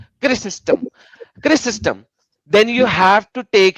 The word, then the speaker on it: Chrysostom: Now, the church father, John Chrysostom, I cannot pronounce the names because of my limited pronunciation.